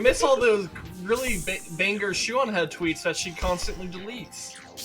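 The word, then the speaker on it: Shoe0nHead: the author, which is Shoe-on Head. What the fuck, Shoe? It feels weird, because I know she spells it S-H-O-E, but the way you pronounce it sounds like S-H-E-W.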